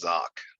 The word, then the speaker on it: Zach: But yeah, it's spelled like Zach, but pronounced Zock.